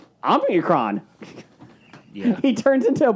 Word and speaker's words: Omicron: I just find it amusing how you can't pronounce a simple word. It's Omicron.